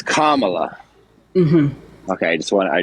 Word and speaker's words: Kamala: think I'm a racist it's comma How do I it's Kamala okay I just want